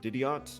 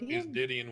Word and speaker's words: Didion: So, I guess what circumstances brought the situation to the location on Didiot, I believe it is. Is that how you pronounce it? It's Didion with an N, but yeah.